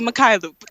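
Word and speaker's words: Mykhailiuk: How do you pronounce Svi's last name? Is it like It's actually Mikhailuk.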